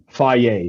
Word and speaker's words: Fage: like Faye. So it's spelled Fage is how you spell it.